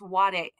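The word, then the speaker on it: 我: In Chinese, this means I. And it's pronounced wo in Chinese, but in Japanese, it's pronounced ware.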